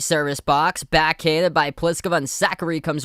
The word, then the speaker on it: Pliskova: but it's not like if i was looking at a piece of paper before going to like a pronunciation guide i would have thought the last name was pliskova and then saqqari but it's pliskova and zachary so zachary up 2-1